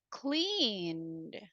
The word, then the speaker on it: cleaned: Another example, when you say cleaned, what is the pronunciation in simple past? Clean in simple past, what is the pronunciation? Cleaned. Clean. Ah, very good. So it sounds more like a D.